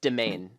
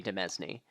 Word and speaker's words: demesne: to pronounce I heard thought it was yeah demen it's domain domain but in my mind it will always be demesne oh I was going